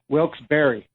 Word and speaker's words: Wilkes-Barre: for this hey cowboy it's pronounced wilkes-barre wilkes-barre ok I apothem oh he could sign